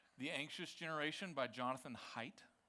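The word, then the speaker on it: Haidt: But it's called The Anxious Generation by Jonathan Height. It's pronounced height, but it's spelled h ai dt.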